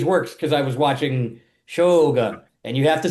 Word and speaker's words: Shogun: I was just Googling how Japanese works because I was watching Shogun, and you have to say Shogun.